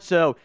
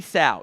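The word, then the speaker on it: Sow: being an offensive guard so City so or sorry City South it rhymes with cow I have that in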